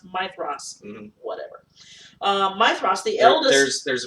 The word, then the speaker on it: Maedhros: Even though there's no TH in it, it's pronounced Mithras.